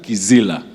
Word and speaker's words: Kizila: Si ofisi Priscilla, like you pronounced it last time. Kizila.